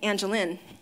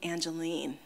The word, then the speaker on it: Angelin: e and so hence everybody's now saying angeline but you know one little thing that i know i use to screen out telemarketers is how they pronounce my name and only my close friends and now you because we're all friends here know that it's really angeline that's how it's meant to be pronounced so with that said